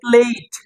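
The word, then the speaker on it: plate: প্লেট তো এটাকে আমরা প্লেট বলি এটাকে সুন্দর উচ্চারণ করলে হবে প্লেইট পি পয় পি এল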